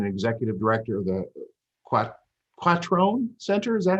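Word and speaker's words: Quattrone: an associate dean and executive director of the quack is that how you pronounce it that's it perfect yes for the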